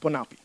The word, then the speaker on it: PONAPI: Ponappi is how we pronounce it.